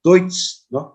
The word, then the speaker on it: Deutsche: that is not Judes niana that is correctly pronounced as Deutsche so it refers to German Deutsche industry Norman Deutsche industry Norman that is German